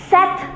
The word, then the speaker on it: sept: sank five cease six Seth is seven it is not tenth it is set the p is silent with nerve atheist with